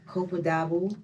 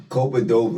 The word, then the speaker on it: Copa Doble: Copaduba. Could I say that right? Copaduba. I don't know. Copaduba. That is Copa Doble. It took me like a week to learn how to say it too.